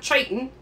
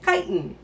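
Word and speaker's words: chiton: is a titan now i did pronounce the ch because that's how you pronounce it it's not triton it's chitin so that's literally all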